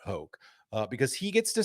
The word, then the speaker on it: Hoch: Still now people joke like, what rhymes with choke? Scott Hoch.